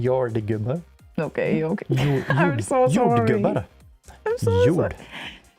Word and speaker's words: jordgubbar: I will never learn how to intonate on this language. So that wasn't the intonation thing. It was a pronunciation thing. It is also the intonation. Jordgubbar. Every foreigner does that. Like super emphasizes the last part.